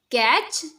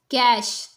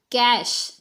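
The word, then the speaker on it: cache: Catch? No, this word is cash, cash.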